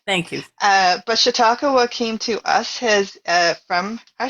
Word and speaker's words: Chautauqua: I'm gonna mispronounce the cat's name. Oh, Chautauqua.